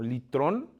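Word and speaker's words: λύτρον: Y entonces dice, "Sabiendo que fuiste rescatados de vuestra manera de vivir, y esta palabra rescatados, que en griego se pronuncia como litrón, es un término que se utilizaba en el mercado de esclavos."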